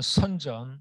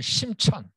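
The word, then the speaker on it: 深圳: 중국 발음으로는 선전, 우리 한 발음으로는 심천.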